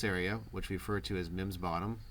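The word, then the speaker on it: Meem's Bottom: which referred to as mims bottom spelled m e e m apostrophe s which you would think would say memes bottom but local colloquial pronunciation so all of this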